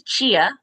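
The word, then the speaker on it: Chyenna: about yourself sure so my name is chia that's the first thing is it's spelled chyen a and so most people are like how do you say that girl's name so that's my name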